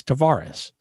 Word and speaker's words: Tavares: was put to him how would your grandfather pronounce it and he said tavares he says that's the portuguese way it's tavares so that's what we